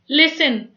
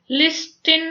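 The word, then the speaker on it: listen: लिसन, लिस्टिन नहीं बोला जाता, इसको बोलते हैं लिसन।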